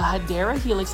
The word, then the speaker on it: Hedera helix: This is another Hedera Helix, or what you would call a Hedera Helix. That's the correct way to say it.